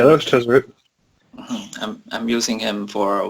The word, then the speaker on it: Tezzeret: I see on the post you had Tezzeret. Is that how you pronounce his name? Exactly. Yes, Yeah, that was Tezzeret.